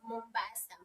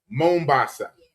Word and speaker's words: Mombasa: Mombasa. Mbasa. Mombasa. How do you pronounce it again?